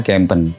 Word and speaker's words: KMPNH: Jadi tulisannya KMPNH, pengucapannya Kempen.